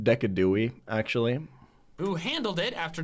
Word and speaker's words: Decidueye: alolan Doug Trio which made me switch out decidueye for valarsi I'm pretty sure it's pronounced decadui actually who handled it